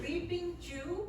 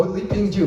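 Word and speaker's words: Li Ping Zhu: Leaping Jew? Oh, Li Ping Ju, yeah. We actually did a seminar together in Tassajara. Spell that, please.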